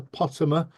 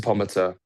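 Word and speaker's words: Pomatter: Pottimer. I've said it right, haven't I? Pomater? No, Pomater. Damn, Close I enough. knew I'd get it wrong. How do you say it, Close Dan? enough. Dr. Pomater.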